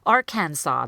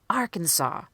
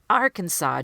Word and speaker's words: Arkansas: the stressed syllable or the strongest syllable Arkansas because as they are stressing the first syllable the are they're really rushing through the the can is turning into canoes a lot Arkansas that's not what we're saying Arkansas Arkansas do you hear that rhythm so two nice issues